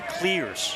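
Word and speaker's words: Cleers: The Shants are making sure everybody knows how to pronounce their name. Oh yeah, Kevin Schnall's running around making sure it's Shant to Clears, C-L-E-E-R-S.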